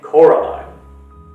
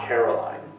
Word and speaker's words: Coraline: They kept saying Coraline, not Caroline. Not Caroline at all."